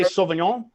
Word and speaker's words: Sauvignon: No, in France they all say Sauvignon. That's my best approximation of French pronunciation right now.